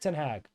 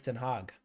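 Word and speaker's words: ten Hag: top of useless uh Eric tag Eric T hog I think it's pronounced rather tag seems kind of feels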